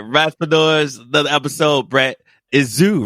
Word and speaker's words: Izu: Izu, right? Did I say it right? Yeah, Izu.